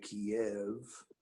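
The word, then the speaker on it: Kyiv: hearing trumpeting in you in Kei Ukraine or As Americans say Kiev and we had the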